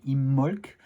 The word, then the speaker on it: Imbolc: Et aujourd'hui, c'est le tirage d'Imbolc pour le sabbat d'Imbolc, alors qui apparemment se prononcerait avec un B muet, donc Immolc.